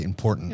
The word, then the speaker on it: important: Oh, because people leave out the T in there. Most people say important.